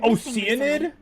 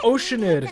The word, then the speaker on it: Oceanid: oanid you met is that's how you pronounce it oanid we should be able to find some related information there I thought it was oceanid an archive of case files guess